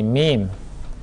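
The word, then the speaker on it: ميم: jin juga kurang tepat yang benar bukan huruf Ma tapi mim kemudian namanya Nun bukan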